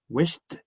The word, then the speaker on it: wished: Wish, no vibration, wished.